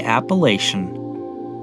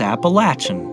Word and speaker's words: Appalachian: the comments about pronunciation, in Northeast Ohio, I grew up hearing people say Appalachian. Some folks have told me it's Appalachian, but I don't really care how it's pronounced, as long as I don't hear banjos playing.